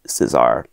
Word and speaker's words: César: like those news reports they pronounced his name Julius Caesar even though they pronounced the company Cesar so I'm going to